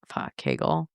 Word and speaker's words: Kegel: You say it like you would say the word bagel if you were like from New York. Is it a Keigle? It's a Keigle, right? Keigel. Kegel.